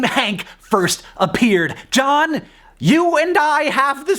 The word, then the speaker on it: John: see all the vowels it also shows the origin of the silent h because John basically used to be Johan Al for a piece